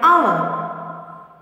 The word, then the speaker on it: hour: Seventh one, hour. Here you want to circle the letter H.